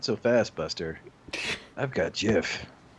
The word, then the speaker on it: Jif: fast buster i've got jiff it's pronounced gif no it's jif that one has a j the other has a g i wish i had